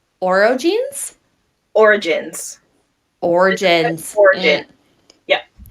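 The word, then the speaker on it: orogenes: Origins. Origins. Origin. Yeah, Okay, well, it's spelled ORO. I know, but it's just origin.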